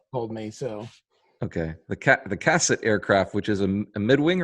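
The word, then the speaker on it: Cassutt: about this aircraft, but it's actually pronounced Cassette, according to you, or the Cassut, as I grew up. Told me so. Okay, the Cassette Aircraft, which is a mid-wing or low wing.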